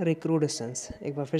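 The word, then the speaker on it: recrudescence: सही से प्रोनाउंसिएट करिएगा, रिक्रूडेशंस।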